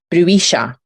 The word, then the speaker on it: bruixa: The Catalan word for witch is pronounced bruixa.